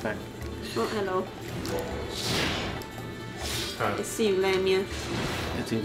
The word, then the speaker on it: Lamia: Lamias. It's pronounced Lamia.